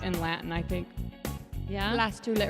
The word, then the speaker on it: blastula: Blastula. It rhymes with gastrula.